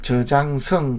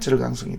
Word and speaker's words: 저장성: 그래서 저장성 그러면은 중국식 발음이고요. 우리가 하면은 절강성이 되고, 그리고 항저우 그러면은 중국식 발음이고 우리가 봤을 때는 항주입니다.